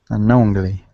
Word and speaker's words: unknowingly: Unknowingly. We so pronounce the G. The G here with the ing.